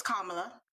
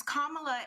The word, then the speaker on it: Kamala: Well, first we have to pronounce her name properly, so it's Kamala, not Kamala.